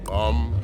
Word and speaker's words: gqom: Uh I don't know if it's pronounced gqom or gqom, I think is how it's pronounced.